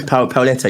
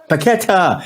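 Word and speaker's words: Paquetá: Lucas Pauleta. You think he plays for? Is it Lille or Leon? Who does he play for? He's Brazilian. We've been linked. Paqueta. That's it. I can't pronounce his name. That's it. Paqueta.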